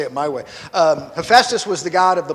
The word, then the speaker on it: Hephaestus: Hephaestus. That's right. Yes, very good. He was the, how, you said Hephaestus? Okay, I've always heard it said Hephaestus, so we have different schools.